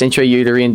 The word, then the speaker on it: intrauterine: intra i don't know how to say this intrauterine devices actually that's exactly how you say it